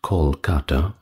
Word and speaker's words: Kolkata: and title, but now rendered rather with a K instead of C, and pronounced Kolkata, I believe.